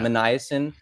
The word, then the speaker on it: Minasian: Minasian.